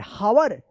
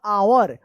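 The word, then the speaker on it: hour: एच ओ यू आर हावर नहीं ये गलत है। यहां पे जो है ना एच साइलेंट रहता है। इसका उच्चारण होगा आवर।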